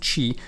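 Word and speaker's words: Qi: these uh these it says key but it's pronounced chi this is your life basically your life points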